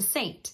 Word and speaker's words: Seint: name of the company to Saint and Saint is spelled French with an e um and I love